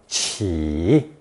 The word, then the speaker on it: 起: This new combination of a newborn baby with zou is pronounced third tone qi.